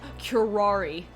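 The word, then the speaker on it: curare: It is pronounced curari.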